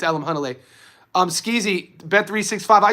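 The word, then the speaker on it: Alimkhanuly: It's funny to hear people mispronounce his name. They Alam Kunnel. It's Alam Hunnle.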